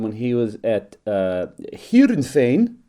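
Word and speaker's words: Heerenveen: he was at uh here insane as we would pronounce it in Holland um some of the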